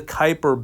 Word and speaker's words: Kuiper: a region called the kuiper belt and you can see i don't know if you can see this it's spelled k-u-i-p-e-r it's pronounced kuiper and there are all